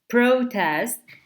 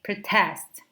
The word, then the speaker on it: protest: So when it is a noun, we say protest, and when it is used as a verb, we say protest.